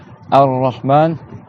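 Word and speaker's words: الرحمن: Donc là, Ar-Rahman, il y a deux ra. On prolonge le A.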